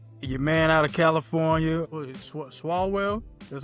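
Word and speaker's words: Swalwell: Swallwell, that's how you pronounce his name.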